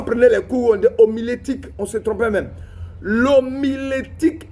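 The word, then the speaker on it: homilétique: y a des personnes quand je dit l'omélitique il SAV même pas de quoi il s'agit alors qu'il dit sont pasteur l'omélitique qu'on appelle l'omilitique voilà c'est l'omilétique vous voyez comme c'est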